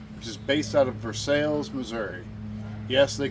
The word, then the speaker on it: Versailles: is based out of Versailles, Missouri. Yes, they call it Versales. I know the technical pronunciation is Versailles. You go to Versales and you say Versailles, they pretty much know you're not from there.